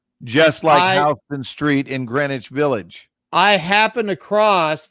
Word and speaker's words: Greenwich: of new york that by all rights should be pronounced green witch right pronounced greenwich so you just you